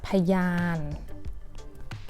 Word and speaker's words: พยาน: So we need to pronounce it as พยาน Why? Because พอพาน is low class and ยอยักษ์ is low class.